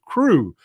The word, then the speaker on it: Crow: Also, since you often say you like to pronounce names correctly, my last name rhymes with crew.